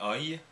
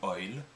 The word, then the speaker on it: oïl: Les langues d'Oïl regroupent l'ensemble des parlers pour lesquels oui se disait oil, prononcé oeil ou oil, et donc de ce mot dérive le français oui.